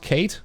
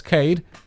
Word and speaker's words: Cade: Not Kate, because you know it says Cade, and you know my pronunciations with the D and the you know that kind of stuff. The D and the T is kind of difficult for me.